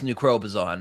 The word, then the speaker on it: New Crobuzon: New Crobuzon is how it's pronounced.